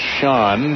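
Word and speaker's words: Chone: First name spelled C-H-O-N-E, but pronounced Sean. Not Sean's, but Sean.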